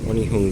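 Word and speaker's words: Onehunga: change here for on line services on hum on hung line that's how you say it don't know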